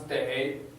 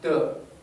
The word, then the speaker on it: 得: This character pronounced 得, that's right. But here it pronounced 的. In this sentence, this character doesn't pronounce day, and it means totally different thing. We used to learn that day means must. You have to treat me coffee. 你得请我喝咖啡. And here it pronounced the.